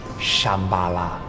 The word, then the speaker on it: Shambhala: In Tibetan, it's pronounced Shambala. That's where your intel messed up. We in the agency believe that all this talk of a future kingdom of Shambala is a threat to our global supremacy.